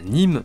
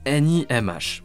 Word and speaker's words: NiMH: Alors la NIM se prononce NIMH pour nickel hydrure métallique et l'hypo veut dire lithium polymère.